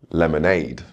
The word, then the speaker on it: lemonade: Words ending in aid, lemonade.